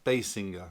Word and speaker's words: Basinger: Yes, Basinger. That's how she pronounced that.